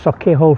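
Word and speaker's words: Sauchiehall: Sir, it's pronounced Saki Hall Street.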